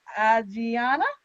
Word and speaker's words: Ajiana: get your name right, Ajiana, did I say it right? Perfect. Yes.